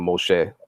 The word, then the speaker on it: Moshe: Moses and this you got that name Moshe and that's how you pronounce it in Hebrew but it is also